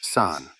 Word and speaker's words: 三: It is pronounced san.